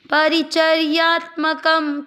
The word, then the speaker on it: परिचर्यात्मकम: तीसरा चरण प में अ मिक्स करते हुए परी च में अ मिक्स करना है। या के ऊपर जो आधा र है उसको च के साथ चर्या परिचर्या। आधे त के साथ म पूरा त्म क परिचर्यात्मक। शब्द पुराने के बाद क पे अनुस्वार आधा म परिचर्यात्मकम।